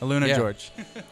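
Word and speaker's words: AlunaGeorge: Luna George. Do you like that? That's how you say it, guys.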